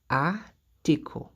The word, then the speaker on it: article: Et on a dit que si un mot se termine par CLE, le CLE se prononce comme co en français. Se prononce comme co. Donc, ça va être article.